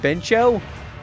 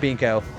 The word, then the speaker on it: Binko: Oh, um I think I would I kept calling it Beno, but somebody in this game called it binko. Yes, like an actual voice said it was Binko, so I was pronouncing it wrong, too.